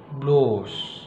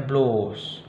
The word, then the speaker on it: bloß: Ya, misalnya bloß, reisen, schießen, gitu ya. Sehingga kelihatan nggak perbedaan dari cara baca saya. Jadi SZ atau scharfes S ini ternyata mempengaruhi panjang vokal itu, membuat panjang vokalnya. Misalnya bloß, reisen, schießen.